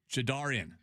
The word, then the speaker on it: Jadarian: Jadarian rhymes with car.